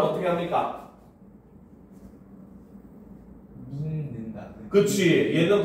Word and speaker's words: 믿는다: 믿는다. 그치. 얘는 발음을 하면 는다.